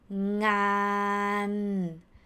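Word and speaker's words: งาน: For example, the word ngan.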